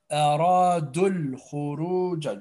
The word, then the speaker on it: أَرَادُوا الْخُرُوجَ: وَلَوْ أَرَادُوا الْخُرُوجَ وَلَوْ أَرَادُوا الْخُرُوجَ Be careful. It's Hamza to us. We join do to dul. Okay? We skip the Hamza to us and we skip the long vowel before. Okay? Aradul khuruj.